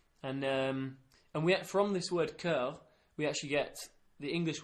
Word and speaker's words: cœur: Okay, so the word for heart in French is cœur. Cœur? Yeah, cœur. How do you spell that?